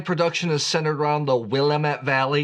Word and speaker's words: Willamette: Most of the wine production is centered around the Willamette Valley. Yes, I know Willamette. Sometimes I like to mispronounce Willamette because it gets people so upset.